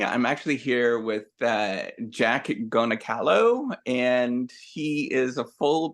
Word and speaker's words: Goncalo: And so my last name is actually pronounced Goncalo, because it's supposed to have the circumflex under the C, but I dropped it.